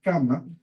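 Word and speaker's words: kamma: Entonces es una lengua más simple, o sea, pronunciar kama, pues un doble M, es más fácil que producir karma.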